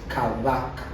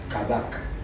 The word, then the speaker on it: Kabaka: No, can you just pronounce that Kabaka? So the B is not, it's almost a B. It's silent. Kabaka. Not ba. It's almost ba. Between B and V. Kabaka.